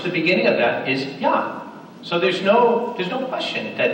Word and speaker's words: Yah: And we know what that syllable is because all over Scripture, 68 times, the name is Yah. It starts with Yah. It doesn't start with Yeh.